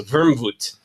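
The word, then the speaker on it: Wermut: So, vermouth is and by the way the name comes from the German uh the way they pronounce it. It's wormwood, right? So, vermvoot.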